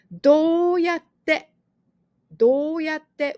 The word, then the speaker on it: どうやって: どうやって with a baby 2, double consonant 2. So you don't pronounce this 2.